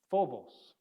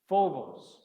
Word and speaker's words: Phobos: better maybe a pH so this is actually an aspirated fee or an aspirated P if you're interested it's so it's a p that has an H on it and that's exactly what we do so we have here